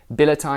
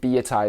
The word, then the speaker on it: billietiae: BA from Belgium so I'm assuming that's pronounced with a French accent which means that B